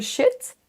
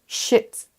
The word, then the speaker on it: sheet: et pas un Google Sheet. Attention à le faire assez long. Si vous faites un i court, vous dites en fait shit, shit. Et là, c'est une insulte, c'est un gros mot.